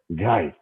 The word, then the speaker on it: Guy: So, Guy, it's as deep a G as you can get. Guy, okay?